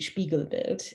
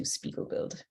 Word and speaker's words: Spiegelbild: the German pronunciation would be Spiegelbild. The Canadian pronunciation is probably closer to Spiegelbild.